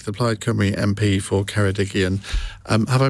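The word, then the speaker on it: Ceredigion: and Ben Lake the PED Cy MP for kedigian um have I pronounced that right perfectly now ju just answer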